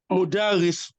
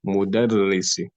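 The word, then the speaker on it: مُدَرِّسِ: Is this word, does it have any shadda inside it? Mudaris. No, there's no shadda. There's shadda on the raw. Mudarrisi. Mudarrisi. Don't put shadda on the dal.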